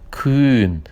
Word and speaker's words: kühn: Por exemplo, a palavra kühn, né? Lembrando que esse H ali faz com que esse U com a diéresis fique um pouquinho mais longo.